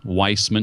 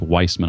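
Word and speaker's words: Wiseman: It's by a woman named Liz Weissman. She spells it like wise man, W-I-S-E-M-A-N, but it's pronounced Weissman, I believe.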